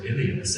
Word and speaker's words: Elias: the name in fact my son Elias or alias as it would be pronounced the power but it